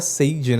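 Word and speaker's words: Sadie: que ela, nossa, eu acho estranho falar sed, a gente pronuncia sede, né?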